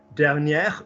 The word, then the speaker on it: dernière: Dernière, we're pronouncing the R on the end.